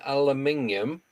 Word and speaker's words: aluminium: Um, I don't know why we don't pronounce the I in aluminum.